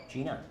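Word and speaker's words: Gena: n a pronounce that Gina Gina Gina all right just spelled differently but I know Gina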